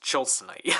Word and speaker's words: Tilsonite: Chilson knight sword the the tonit chilite it's pronounced chilite any sound of the